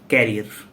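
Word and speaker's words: career: अब प्रोनाउंसिएशन, जैसे सिंपल सा प्रोनाउंसिएशन लेते हैं, कैरियर। कैरियर आपको पता ही होगा, लेकिन आप में से अधिकतर लोग जानते होंगे ये कैरियर नहीं करियर होता है।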